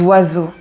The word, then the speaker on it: oiseaux: E a u donc ces trois lettres font le son o et donc tu as